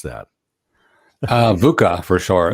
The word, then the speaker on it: VUCA: Daniel, how do we pronounce that? VUCA for short. VUCA.